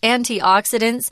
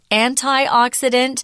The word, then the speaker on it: antioxidant: has a lot of antioxidants this word can be pronounced two ways I just said it two ways antioxidant or antioxidant they're both correct it's a substance in